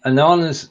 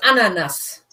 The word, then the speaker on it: Ananas: Now, ananas is. Well, let's look at the pronunciation first. It's ananas.